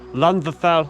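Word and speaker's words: Llandderfel: It's very small, very short, single track gauge, and it's pronounced either Landfell or Landfell tunnel.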